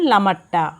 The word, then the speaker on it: লামাহাটা: পৌঁছে গেলাম লামাহাটা। স্থানীয় উচ্চারণ লামারট্টা।